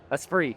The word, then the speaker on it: Esprit: Is that Espre. So it's Spirit in French.